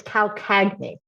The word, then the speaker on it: Calcagni: It's Calcagni. So it's a Southern Italian name and very, very hard to pronounce.